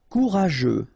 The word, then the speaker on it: courageux: Courageux. Final X not pronounced, and then you get this U, E, and G plus E. After that it's je, so je, okay?